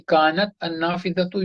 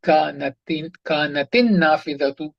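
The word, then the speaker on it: كانت النافذة: How are you pronouncing it, saying kanat an-nafidhatu? This hamzatul wasl should not be pronounced. You see, so two things are getting disturbed. Solution for that is you will put a kasra under this ta, kanatin nafidatu mughlaqatan. The window was closed.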